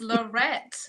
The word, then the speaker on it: Lorette: right welcome this is lorette did i pronounce it correctly yes you did is it has an e on the end and it's not an a sound okay i thought so